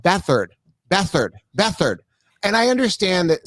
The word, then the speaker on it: Beathard: same thing that's bothering me when we were pronouncing remember cj bathard it's with ard right but it's called bethard beathard beathard and i understand that sometimes you know